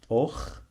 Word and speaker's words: أختي: This letter doesn't exist in English. Okay. So I'm gonna write it as it is in Arabic. We pronounce it like you know when a person snores. So أخ, أخ, أخ. Okay. أختي. أختي. أختي. Sometimes this letter is written in English like KH.